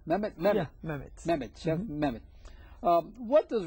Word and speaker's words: Mehmet: number one chef as I mentioned is Chef. And and um uh did I pronounce it right? Memed me. Yeah. Memed.